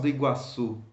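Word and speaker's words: Iguaçu: from the word Lucy so you have to stress the end of the world you also have words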